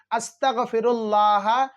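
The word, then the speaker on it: أستغفر الله: हैं तो नाजरीन आपको नून को हटाना है नून को साइलेंट करना है मीम को पढ़ना है आपको इतना पढ़ना है फिर इंशा अल्लाह अल्लाह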